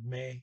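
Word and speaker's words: med: The D on may, M-E-D, is silent.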